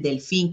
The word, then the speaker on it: delfín: Y pues todas las otras palabritas que no, el delfín que tiene el acento en la El I, y todos delfín.